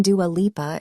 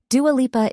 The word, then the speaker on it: Dua Lipa: plus community of Australia Dua Lipa isn't a stage name yep Dua Lipa is the name she was born with it's pronounced door leaper she says she didn't